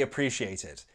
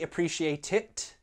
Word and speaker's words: appreciate it: My natural pronunciation is London, standard London, and I would glottalize that final T, so it sounds like this. I really appreciate it, thanks. I didn't say appreciate it, I glottalized the final T.